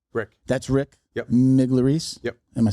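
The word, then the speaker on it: Migliarese: Miglerice.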